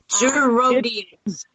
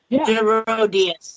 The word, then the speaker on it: Gerodias: Gerodias. It's pronounced like it looks. It's pronounced like it looks. I don't buy it. Yeah. Gerodias. There you go. Gerodias.